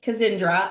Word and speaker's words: Kazindra: Kazindra.